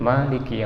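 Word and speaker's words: مالك: Lanjut, Maliki Yaumiddin. Ma-nya dibaca panjang, beda dengan kita baca surat An-Nas, Malikin Nas ya.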